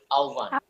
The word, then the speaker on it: আহ্বান: এই যে আহ্বান, আমরা এটা যেটা এভাবে যেটা লিখি, এটা হচ্ছে উচ্চারণ কি হবে? আহ্বান। এটা হচ্ছে এই যে আহ্বান, এটার উচ্চারণ হবে এইটা আহ্বান, ঠিক আছে?